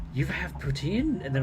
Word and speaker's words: poutine: do do you have patin or to them i would say do you have poutine um and all of them